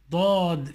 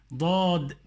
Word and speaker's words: ضاد: Dad. Fatha, da. Dad. ضم ضو ضاد كسر ضي ضاد سكون ض ضاد فتح ض as in ضبع ضبع ضاد فتح